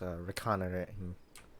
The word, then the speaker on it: reconnoitering: I think the proper pronunciation of that word is reconnoitering, because it's derivative of reconnaissance. But fucking like how monitoring is kinda looks like it.